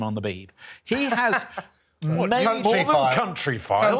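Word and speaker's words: Countryfile: the be he has country file country file please emphasis on the first syllable more than Matt Baker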